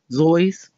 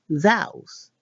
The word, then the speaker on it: Seuss: Anyway, his mom's maiden name, South, rhymed with voice. Zois.